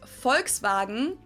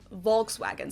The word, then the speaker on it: Volkswagen: But even if we did go by the full name, it would be pronounced Volkswagen and not Volkswagen. So Volkswagen. Just imagine that it was spelled with an F and V instead.